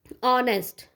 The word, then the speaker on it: honest: Honest, here h is consonant but the sound of the, yeah, means the pronunciation of the word is honest, o, then we will use an here, okay.